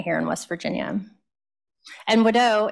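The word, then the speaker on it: Wado: in West Virginia and Widow is thank you in Cherokee so a lot of our elders my grandmother always pronounced it wood is how we would say it so um yeah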